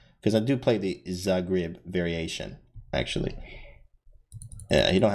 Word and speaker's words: Zagreb: Oh, it's pronounced Zagreb. Thank you for that, Phoenix. Thank you for that. That's actually history I didn't know. Because I do play the Zagreb variation, actually.